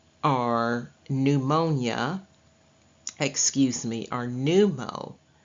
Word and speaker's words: pneumo: pneumonia excuse me are pneumo the P obviously is silent and it is new MO and pneumo and pulmono both mean